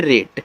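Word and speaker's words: rate: याद रखिएगा जब ए के बाद एक लेटर छोड़ करके ई आ जाए तो ए का जो उच्चारण होता है एक ही मात्रा के रूप में होगा। तो आर से रा, ए का उच्चारण एक ही मात्रा के रूप में, टी से आपका टा, ए जो किनारे ई आता है इसका उच्चारण हम नहीं करते हैं।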